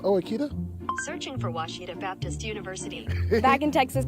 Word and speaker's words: Ouachita: University get it right it's Ouachita people it's Ouachita Washita I'm Nicole Auerbach from